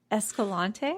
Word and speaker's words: Escalante: Escalante?